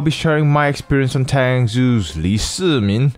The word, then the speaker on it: Tangzu: sharing my experience on Tang Zeus I know it's referred as seemingly a lot but this is how it's normally pronounced for me so I'm sticking with this before I begin I'd